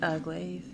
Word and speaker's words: glaive: I want to draw my glaive. Is that how it's said, by the way? Glaive, yeah.